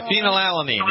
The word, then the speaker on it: phenylalanine: Did I pronounce it? Yeah, phenylalanine.